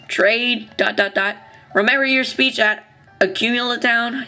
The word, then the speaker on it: Accumula Town: Talk or battle or trade, Remember your speech at Accumula Town?